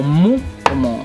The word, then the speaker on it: MW: Goku, sí, pero no, Adolf y MW o Mu, como se pronuncia.